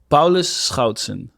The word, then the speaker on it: Paulus Schoutsen: you how you pronounce it how do you pronounce your name paus scouton awesome are you Dutch yeah beautiful I'm Dutch